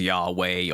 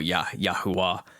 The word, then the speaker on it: Yahweh: And then you can pronounce that if you want as Yahweh or Yahuwah.